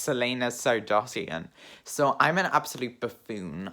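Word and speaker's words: Celaena Sardothien: complete idiot because i was always calling selena selena sardatine when her name is pronounced selena sardotian so i'm an absolute buffoon i just did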